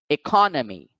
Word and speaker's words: economy: now the accented syllable so the word is pronounced economy economy economy next we have the word locality